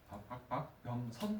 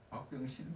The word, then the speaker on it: 박병선: 박병선 박사님은 발음 조금 조심해야 될 것 같아요. 박병선 박사님이에요. 박병신 박사님이 아니고 너무 신났나?